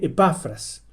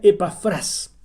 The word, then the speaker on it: Epafras: En español, como está escrito en la Biblia, debiera pronunciarse Epafras. Pero en el original, la tilde está al final, en la última sílaba. Entonces se pronuncia Epafras.